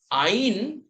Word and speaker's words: ein: Ein is pronounced W-E-I-N, wine. So E-I-N, ein. It will be pronounced as ein.